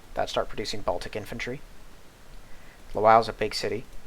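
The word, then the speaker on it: Lwów: I don't think Lutsk or Lwow have fortresses, though, so we can take... I think that's supposed to be pronounced Lvov, but I'm not gonna.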